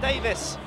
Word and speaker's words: Davies: Tom spelt Davies, but sometimes it's pronounced Davis.